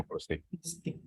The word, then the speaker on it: Plustik: Plustik itu bahasa Indonesia, Mas, sengaja kita pakai hurufnya belakangnya K bukan C. Jadi, tapi emang orang sering salah baca jadinya plastik, tapi kita bacanya Plustik.